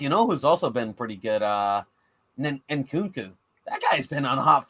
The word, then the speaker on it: Nkunku: Nkunku? But do I they don't pronounce the N? You probably don't pronounce the N. Nkunku.